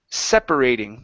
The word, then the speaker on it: separating: this one here okay the word is pronounced separating the stress is at the very beginning instead of separating it's